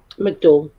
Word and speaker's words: McDowell: Is that how you pronounce his name? McDowell. Yeah.